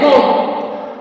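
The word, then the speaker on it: bomb: rule number two में अगर बी एम के बाद या फिर टी के पहले आए तो बी साइलेंट होता है मतलब अगर बी ए के बाद आए या फिर टी के पहले आता है तो बी साइलेंट रहता है जैसे बी ओ एम बी बम इसको बम नहीं पढ़ते हैं इसको पढ़ते हैं बम फिर है सी ओ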